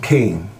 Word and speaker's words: Cain: The story of Cain and Abel. The man knew Eve, his wife, and she conceived and born Cain, saying, I have given birth to a man-child with the help of the Lord.